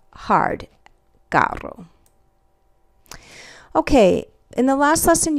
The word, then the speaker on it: carro: But it's hard in a word like carro, which means car, because it's followed by an A. So we have cerdo, soft like an S, and k, hard, carro.